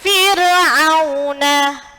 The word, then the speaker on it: Fir'auna: Fir'auna bersama Fir'auna. Jadi nggak boleh bacanya Fir'auna, nggak boleh. Jadi bacanya nih senyum. Fir'auna bersama karena apa?